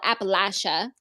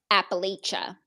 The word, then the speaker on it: Appalachia: this side of Appalachia which I learned is called Appalachia yeah we said it wrong Appalachia maybe larger Appalachia yeah